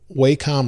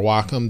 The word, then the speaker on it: Wacom: It's using Wacom or Wacom, depending on how you want to pronounce their names, technology for the pen.